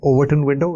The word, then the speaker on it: Overton window: when I is this notion of decoding the Overton window. Is that how you pronounce it?